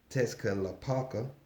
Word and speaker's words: Tezcatlipoca: We got Tessica Lapalka. Tessica Lapalka. You know what I'm saying? These names is crazy. And I can read, yes I can. But that's just how it's pronounced.